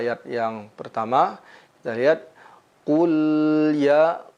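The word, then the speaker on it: قُلْ: Pada ayat yang pertama kita lihat qul ya qul. Nah, jangan sampai huruf lamnya memantul. Qul gitu. Ku kita monyongkan mulut kita.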